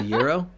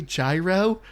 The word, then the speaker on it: gyro: A euro. Okay. Yes. And like Liz knows this, but Liz is like, "I don't want to sound pretentious." So she's like, "Do I say gyro?"